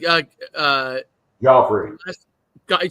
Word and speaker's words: Guifre: as it looks okay goffy yeah I want it's pronounced like the uh the who is it the king in um Game of Thrones or the ballet in New York got it got